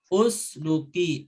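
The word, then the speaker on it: اسلكي: lam itu berharokat dhammah, maka alifnya kalau dibacanya terpisah dari fa itu usluki dhammah gitu ya. Tapi kalau disambung dengan fa, ini kan fa nyambung ke alif, maka disukunkan saja fasluki seperti itu.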